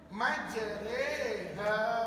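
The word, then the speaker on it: مجراها: Dan macam mana nak bacanya? Majriha. Kata tok guru saya, kalau kamu ingat macam mana irama do re mi. Do re mi fa sol la ti do, ambil re.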